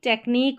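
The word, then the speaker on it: take: Number 20 पर है ई silent, यहाँ पर है फाइनल ई साइलेंट रहता है, लास्ट में जब भी ई रहता है वो साइलेंट रहता है, फाइनल मतलब कि लास्ट में। मेक, टेक और होप, यहाँ पर मेक की या टेक की या होप की ऐसे नहीं पढ़ रहे क्योंकि ई का साउंड नहीं आता लास्ट में।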